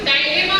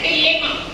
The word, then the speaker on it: dilemma: ऐसे ही जब हम आगे जाते हैं तो डायलेमा भी होता है। डायलेमा वर्ड आपको समझ में आता है, जिसे एक प्रोनाउंसिएशन और किया जाता है डिलेमा। डिलेमा, डायलेमा दोनों एक ही है।